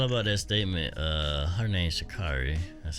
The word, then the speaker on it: Sha'Carri: Her name's Sha'Carri.